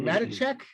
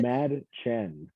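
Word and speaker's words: Mädchen: Madachek? Madachek? Mad Chen. Mad Chen? Mad. It's like mad. There's a K in it.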